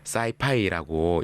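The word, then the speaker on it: sci-fi: 영어권에서 일반적으로 대문자 S와 F 뒤에 각각 소문자 I를 넣어서 사이파이라고 읽고 하는데요.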